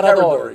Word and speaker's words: Carradori: Am I pronouncing it? Yeah, Carradori.